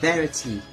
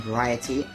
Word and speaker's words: Variety: just them two but people keep saying Varity rather than variety I don't know why